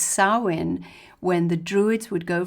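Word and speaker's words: Samhain: to the Celtic holiday of spelt Sam Hine pronounced sawin when The Druids would go from house to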